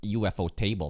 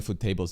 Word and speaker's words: Ufotable: And so I guess for people that were expecting Ufotable or Mappa level animation on Actually, it's pronounced UFO table, not Ufotable.